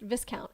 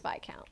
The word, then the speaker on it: viscount: The word that is spelled as if it would be pronounced viscount is pronounced vic count.